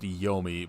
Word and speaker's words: Yumi: And then you cut to Yumi or Yomi. It's pronounced Yomi, but it's spelled Yumi, so I'm going to say it wrong probably every time I see it in my notes.